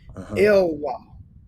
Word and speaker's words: Elwa: And Jacob, his last name is pronounced Elwa. Elwa. Elwa. Oh yeah, that's 25. I know. Elloie. It's pronounced Elwa. Elwa. Like Wall Drive in Houston, Elwa.